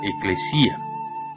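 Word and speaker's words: ἐκκλησία: En este caso, la palabra iglesia es una traducción de una palabra griega pronunciada eclesía.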